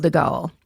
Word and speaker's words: de Gaulle: And that's France's government in exile led by Charles de Gaulle. That's the French pronunciation.